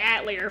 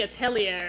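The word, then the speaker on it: atelier: So yeah I was calling it atlier for a while and then I was like you know that doesn't make any sense. It should be a tellier if it's a French word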